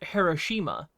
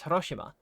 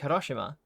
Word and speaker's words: Hiroshima: So for example, like some Americans might pronounce a city in Japan as Hiroshima, but the native pronunciation is Hiroshima. So I say it like Hiroshima because that's how you're meant to say it.